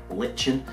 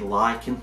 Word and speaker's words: lichen: And I think they actually pronounce the morph over here in England as lichen, but in America I think they say lichen, so I don't know if I'm 100% on that.